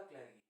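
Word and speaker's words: clergy: And second state था क्लैरिगी। क्लैरिगी भी बोलते, क्लैरिजी भी बोलते, दोनों प्रोनाउंसिएशन है इसके, ज्यादातर लोग क्लैरिजी प्रोनाउंस करते।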